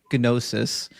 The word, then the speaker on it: gnosis: to have this this ginosis and yes in biblical Greek you pronounced the G in gnosis not in English and if you could